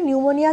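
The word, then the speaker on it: pneumonia: তো নিউমোনিয়া হয়ে যাবে নিউমোনিয়া বানানটা ভালো করে দেখবে নিউমোনিয়া স্টার্ট হচ্ছে পি দিয়ে পি এখানে সাইলেন্ট নিউমোনিয়া হয়ে যাবে তোমার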